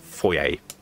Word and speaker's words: foyer: say that word yeah it's a french word i think it's french anyway it's definitely pronounced foyer hey our luck sherry